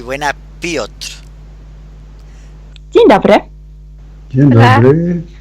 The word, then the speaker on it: Piotr: Piotr, ¿no? Piotr. Sin O, sino Piotr. Muy rápidamente, Piotr.